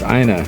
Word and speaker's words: Ina: And don't mispronounce her name, it's Ina, not Ena.